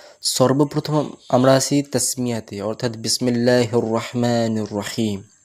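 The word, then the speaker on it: بِسْمِ اللّٰهِ: আলিফ টান রাখবো শুধু আর কেউ কেউ বিসমিল্লাহকে বিকে বে উচ্চারণ করে বিসমিল্লাহ তো কাসরা অর্থাৎ জের আনতে হবে ক্লিয়ারলি বিসমিল্লাহির রাহমানির রাহিম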